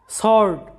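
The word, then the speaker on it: sword: answer শব্দ লক্ষ্য করো যে আনসার ডাব্লিউ এর উচ্চারণ হয় নাই এরপরে সর্ড সর্ড মানে হচ্ছে তরোয়াল এরপরে দেখো যে টু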